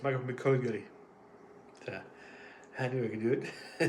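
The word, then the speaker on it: McGillicutty: I know how to pronounce his name, just having trouble right now with it. McGullicuddy, it's Michael McGullicuddy.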